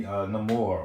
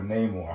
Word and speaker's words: Namor: Once again from the previews, there's no spoiler, but we see Namor or Namor, however you want to pronounce it, come into play.